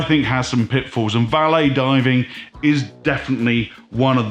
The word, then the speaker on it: valet: That's the correct pronunciation, valet in French.